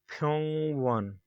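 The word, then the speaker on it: 병원: As you can see, the ing consonant is used two times. As it is used in the end, it sounds ing, pyong, pyong. But as it is used in the start, it is silent.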